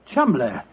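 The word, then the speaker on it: Cholmondeley: is in no way pronounced the way it is spelled. Oh, Joe, I never thought of that. Chuml.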